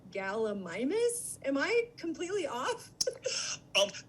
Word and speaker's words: Gallimimus: i have been pronouncing gallimimus am i completely off um that's just fine minus or mimus you find people use both uh they even do